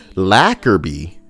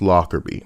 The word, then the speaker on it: Lockerbie: that's where you're laughing because i was asking you lacquerby lockerby no still pronounced lockerbie lockerby so i was right true silver says well